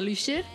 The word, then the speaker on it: Lusher: Em diuen Lusher. Sí, és una U que has de posar la boca com una I. Es pronuncia Lusher.